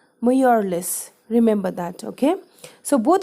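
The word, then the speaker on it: Mjölis: guests until bedtime students this particular word which means card game is pronounced as Morales remember that okay so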